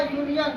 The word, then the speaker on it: union: जैसे UNION, यहाँ यूनियन, देखो यू के बाद एन आया और एन के बाद फिर आई आ गया। यदि यू के बाद एन के बाद वोवेल कॉन्सिनेंट आता है तो यू को हम लोग आ पढ़ते हैं। लेकिन यहाँ पर यू के बाद कॉन्सिनेंट के बाद फिर वोवेल, इसलिए हम यू को यू ही पढ़ेंगे।